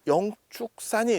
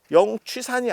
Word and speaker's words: 영축산: 오대산 안에 오대산 안에 영축산이 있어 영취산이 아니에요 영축산 발음이 축자 발음이납니다 그래서 통도사가 있는데도 영축산 나중에